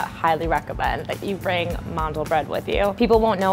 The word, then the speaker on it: mandelbrot: Hey, today I'm gonna show you how to make my Jewish Mandelbrot, or how it's pronounced in Yiddish, Mandelbrot.